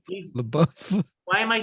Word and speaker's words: LaBeouf: He's like he's LaBeouf.